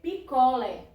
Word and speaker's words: picolé: Se você não bota o acento, você lê picolé, é normal. Então, há uma diferença quando você coloca o acento, né? Que ele já está indicando o acento agudo, a sílaba forte é no lé e o som ele é aberto, né?